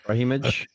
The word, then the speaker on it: Brahimaj: Brahimaj. Jeez. Yeah. Ramiz Brahimaj.